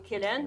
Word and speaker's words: Cillian: How do you say his Killian.